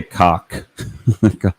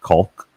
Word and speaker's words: caulk: Greg, I say cock. Cock. But I know a lot of people mispronounce it with the L. That is incorrect. It is not caulk. It is cock.